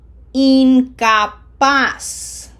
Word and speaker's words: incapaz: This is not in, it's een. incapaz incapaz P E 2 Remember, no Z sound in Spanish, just like an S.